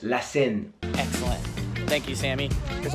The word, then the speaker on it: La Seine: It's pronounced La Seine.